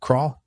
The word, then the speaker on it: Krall: Is that the right pronunciation for a last name? Krall?